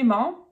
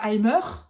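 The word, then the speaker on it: Eimer: Avec le e i qui fait comme l'œuf he I aim c'est donc le saut et vous avez remarqué je ne prononce pas aimer mais aim aim avec presque un a à la fin.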